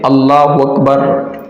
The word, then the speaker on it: اللہ اکبر: ہیں جب ہم نماز شروع کرتے ہیں تو اللہ اکبر جب ہم کہہ کر کے اور اپنی نماز شروع کرتے ہیں اسے کہتے ہیں تکبیر تحریمہ۔ اب سب سے پہلی غلطی یہ کی جاتی ہے کہ اللہ اکبر یعنی کہ اکبر کی جگہ وکبر واو پڑھ